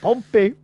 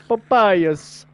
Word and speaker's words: Pompeius: So, like in the UK, we call the Roman general Pompey, and he's always like, Pompey, I can't believe you're calling him Pompey. It's Pompeius.